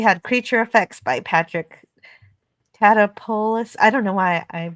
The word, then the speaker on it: Tatopoulos: And we had creature effects by Patrick Tatopoulos. I don't know why I decided to say that name. Tatopoulos, thank you. Well, and the only reason I know how to pronounce that, it's a Greek name, and the reason is